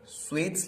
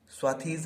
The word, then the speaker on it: swathes: आप समझने की कोशिश करना, स्वेट्स लिखा है ये, स्वाथीज नहीं। ओके, बहुत लोग कंफ्यूज हो जाएंगे, इसलिए मैं आप लोगों को इसका प्रोनाउंसिएशन बता दूं।